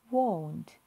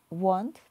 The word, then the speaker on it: won't: She won't. Не вимовляємо want, тому що want – це хотіти.